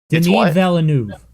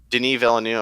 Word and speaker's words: Denis Villeneuve: Denis Villeneuve. Denis Villeneuve. Okay. It's not Dennis. Dennis is 2 N's.